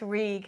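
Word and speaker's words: Rhug: R H U G which you pronounce reg because I I mean I I like to say things properly and I love language too.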